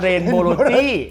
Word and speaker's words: Rainbowlogy: อ ก เ สี ย ง ว่ า Rainbowlogy คื อ ต า ม ร า ก